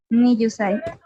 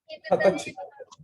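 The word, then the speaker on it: 二十歳: Niyusai. ¿Cómo se dice? 20 歳 es como dicen los abuelitos. Ah, sí. ¿Ja? Hasai. No, eso es para. No, ese es de 8. Sí, sí, es cierto. Hatachi.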